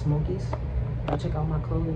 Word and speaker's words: smo_okiez: like this s-m-o underscore o-k-i-e-z on Instagram it's pronounced Smokies I'll check out my clothing man y'all should